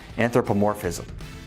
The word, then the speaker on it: anthropomorphism: Oh, and P.S., it's pronounced anthropomorphism.